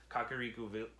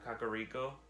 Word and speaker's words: Kakariko: I'm in Kokiri the Kokiri not Kokiri kakariku wow that's crazy I'm in uh kakariko kakariko kakariko Village okay I'm right I hate mispronouncing stuff